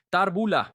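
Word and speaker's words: תחבולה: ¿Cómo se escribe y cómo se pronuncia? Tarbula. Okay, tarbula. En el hebreo de hoy se pronuncia mucho.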